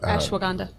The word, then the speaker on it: ashwagandha: So it's like that ashwagandha. Ashwagandha. Yeah. It does not help you pronounce words better.